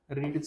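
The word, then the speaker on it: read: तुम्हाला सुरुवातीला पण सांगितलं रीड थर्ड फॉर्म काय होणार स्पेलिंग तेच राहणार परंतु त्याचा उच्चार काय होणार रेड ओके पुढचा शब्द आहे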